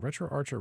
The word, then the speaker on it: RetroArch: is set up on retroarch in the meantime all right so we're gonna set retro Archer retro Arc because it's a r c h but I've heard people call it retroarc as well I don't know if